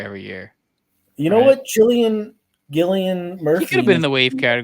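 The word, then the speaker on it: Cillian: I would have thought kilan or chillian it's Killian I thought this like a silent h I think it's Killian Murphy Maybe I'm Wrong I think that's where I've I've heard I don't think it's it's Killian uh female movie star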